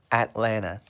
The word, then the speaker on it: Atlanta: is called Atlanta but the way we pronounce the name Atlanta is at LAN na Atlanta the capital of Georgia is Atlanta I know we write it Atlanta but we say the name Atlanta so the questions they